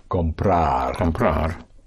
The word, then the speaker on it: comprar: The key to the whole present tense is to stress always the syllable before last of any verb. Therefore, if you want to say to buy, would be comprar.